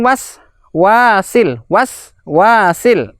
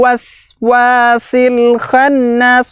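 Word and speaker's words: الْوَسْوَاسِ الْخَنَّاسِ: bersukun itu tidak berhenti contoh yang keliru pada bacaan ayat keempat ini adalah Mi syarril waswasil waswasil ini keliru Lalu bagaimana cara membacanya adalah mengalir satu tarikan nafas Meisya real waswasil khannas waswasil khannas ya mengalir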